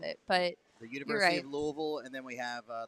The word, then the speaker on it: Louisville: that's how you say it by the way Louisville and I'm gonna ask all the kids I